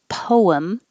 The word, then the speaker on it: poem: And poem can be 2 syllables, poem, or 1 syllable, poem. Both are fine.